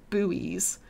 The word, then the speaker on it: buoy: controversial questions is it is it pronounced boys or buoys oh guys I'm team boys it's a boy when people say buoy I get confused this happens a lot